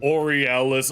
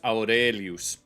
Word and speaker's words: Aurelius: Or as the famous Marcus Orielis sums up in oralis. Okay, now there's something that I could tell oralis. It's Marcus Aurelius.